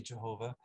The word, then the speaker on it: Yahweh: We think it's pronounced Yahweh. Some people will say Jehovah.